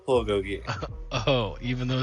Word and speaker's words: bulgogi: It's pronounced bulgogi.